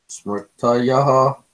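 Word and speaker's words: स्मृतयः: Smrtayaha. You see, the sound of ha comes only in the last, but otherwise you speak a normal pronunciation.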